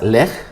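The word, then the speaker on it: לֵךְ: eh Son dos letras lej se lee de derecha a izquierda lej y luego la segunda palabra se escribe Exactamente igual y se pronuncia leja la única diferencia pues es en Las vocales lej significa vete o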